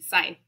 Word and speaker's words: Scythe: That's not how it's said. Scythe? Yeah, there's Scythe. No C. Scythe.